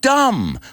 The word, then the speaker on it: dumb: Make a list of these words with silent B's, like dumb, lamb, tomb, and practice saying them so you never make that mistake again, and you never pronounce that B, or you never call